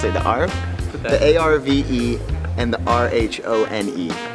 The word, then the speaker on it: Arve: Geneva sits between a crystal clear lake and two rivers, the Alf and the Rhone. Alf? How do you pronounce it? The Arve?